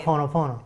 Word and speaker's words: Ho'oponopono: Because I can't even pronounce that. I know Ho- it's Hawaiian. Ho'oponopono. There you go. Yeah, So I love Ho'oponopono.